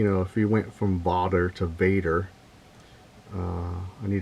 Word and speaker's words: vader: it was Dutch and it's pronounced differently I think it's pronounced vder and I'm pretty sure I butchered that pronunciation and so I wanted